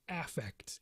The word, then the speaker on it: affect: the word effect but when psychologists see this word they pronounce it affect and when they you pronounce it that way they mean feelings so our affect is